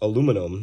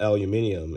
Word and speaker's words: aluminum: It's also pronounced aluminum, not aluminium, in case you're one of those folks.